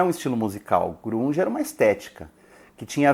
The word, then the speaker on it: grunge: eu pelo menos não a palavra grunge ou grunge como é pronunciada em inglês é uma gíria criada